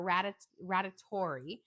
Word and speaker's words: radiatore: Yes, the noodles are radiatore. I might be saying it wrong. Radiatore. I always think of it like a radius and then a tori. So radiatore.